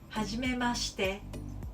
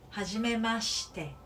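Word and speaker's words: はじめまして: And pronunciation wise, はじめまして is a sh.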